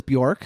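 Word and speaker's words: Björk: Um, number two was Buork, who I have not done a big uh I'm saying it right, Bork, right? Yep.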